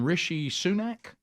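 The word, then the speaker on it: Rishi Sunak: he is how do you say his name rishy sunak rishy yeah rishy sunak sounds uh UK prime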